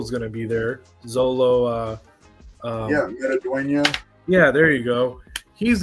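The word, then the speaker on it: Xolo Maridueña: Zolo. Metaduena.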